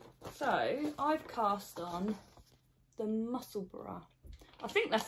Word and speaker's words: Musselburgh: So I've cast on the Musselburra. I think that's how you say it. People say Musselburgh or Musselburra. Well, it's like Edinburgh. Yeah, Musselburra.